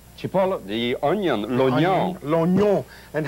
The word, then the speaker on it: cipolla: Aglio, garlic, cibollo. Cipolla, the onion, l'oignon.